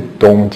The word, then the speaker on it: Tung: Mestre Tung, vamos falar um pouquinho sobre ele. O Mestre Tong Jin Chan, que é a pronúncia correta, mas aqui no Brasil ficou conhecido como Mestre Tung.